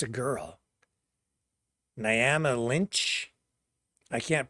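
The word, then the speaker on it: Niamh: Neve. Neve is how it's pronounced.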